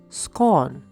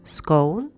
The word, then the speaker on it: scones: the one that goes on scones and it's pronounced scorn not Scholl and the English scones are different from American